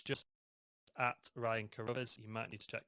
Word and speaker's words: Carruthers: really like twitter so it's just at ryan carruthers you might need to check the spelling of